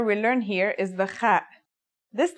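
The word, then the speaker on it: خاء: Kha is a sound some people make when they laugh. It's also similar to the sound people make when they snore.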